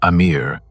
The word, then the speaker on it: Amir: The Amir, pronounced "A-meer", are the second classification of jinn and their name, translated from ancient Arabic, means something that should make you deeply uncomfortable.